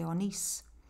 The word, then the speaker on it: Onís: Cangas de Onís. Whenever you see an accent like that, that's where the stress is on the word.